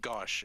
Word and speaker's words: Gauche: Or Gauche, if you prefer the French pronunciation.